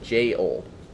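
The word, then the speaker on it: gaol: ever jail and yes I know it is spelled ever and then g-a-o-l that is uh pronounced j-o and then we redefined it to the g-a-i-l we all love it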